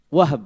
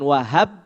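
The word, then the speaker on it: وهب: Wahab bukan Wahab. Ya, bukan Wahab. Kalau Wahab kan berarti kan di fathah haknya gitu.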